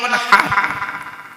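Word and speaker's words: وَانْحَرْ: ইন্না আতাইনাকাল কাউসার ফাসাল্লি লিরাব্বিকা ওয়ানহার, ফাসাল্লি লিরাব্বিকা ওয়ানহার, ওয়ানহার, ওয়ানহার। এই গলার ভেতর থেকে হেটা উচ্চারণ করবেন, হাই হুচিন, হাই হাওয়াজ নয়।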